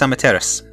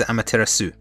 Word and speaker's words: Amaterasu: for sasuke and atachi they do not know how to pronounce amateras they do pronounce amaterasu which is wrong one of the first things you learn when you learn japanese is how to pronounce the japanese language and one of the first things i was taught when i was learning it was that the su at the end of japanese words is very often 99 of the